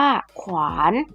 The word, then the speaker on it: ขวาน: ขอ ไข่ ควบ วอแหวน เช่น ขวาน อ่าน ว่า ขวาน ของ ขวัญ อ่าน ว่า